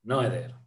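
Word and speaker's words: Noether: en alemán y los en inglés le dicen Noeder. Ajá. En inglés no pronuncian Nuta, solo en los videos en alemán lo pronuncian como es en alemán.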